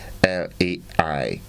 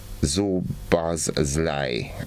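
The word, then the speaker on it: Szoboszlai: Now, I want to know, how do you expect someone like, in our region to pronounce this name? Zobozlai. Zobozlai.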